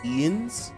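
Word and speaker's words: Jens: Ians? The J is pronounced as an I?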